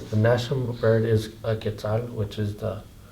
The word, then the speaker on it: quetzal: The national bird is a quetzal, which is how you say it, the name of the money Yeah.